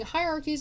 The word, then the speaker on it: hierarchies: Instead of creating hierarchies, I keep pronouncing H's as silent H's. Instead of creating hierarchies of priests and priestesses,